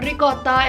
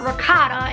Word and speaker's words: ricotta: around italian people so you know that ricotta is not rakata and you know that